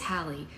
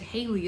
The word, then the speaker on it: Hallie: It is Hallie, because she said Hayley is wrong.